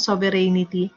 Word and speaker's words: sovereignty: of sovereignty here, because a lot of people, Filipino problem, ano, we want to put syllables in all these things. Parang hindi tayo nausuhan ng silent letters. So, place, naglalagay sila ng I dito sa gitna na ito, sovereignty. So, walang I dyan ha. So, it's only sovereignty.